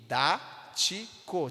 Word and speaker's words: didático: círculo não é verdade na palavra didático nós temos quantas sílabas de didático temos quatro sílabas a força está aonde no dá de tático é a terceira sílaba percebe que é antepenúltima a terceira sílaba do final e da mesma forma